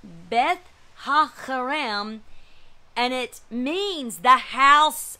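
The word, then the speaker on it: Beth-haccherem: Beth Hakayim is what, and that C, that double C is not pronounced S, like I thought was Semech. It's not. It's a Chet, a Chet, it looks like. So it's Beth Hakarim, and it means the house of the vineyard.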